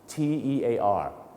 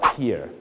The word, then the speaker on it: tear: ครับ ติ๋ง ติ๋ง น้ำ ตา นั่น เอง ครับ t e a r ถ้า เป็น นาม เรา จะ ออก เสียง ว่า Tear นะ ฮะ Tear ก็ จะ แปล ว่า นี่ แ ฮะ น้ำ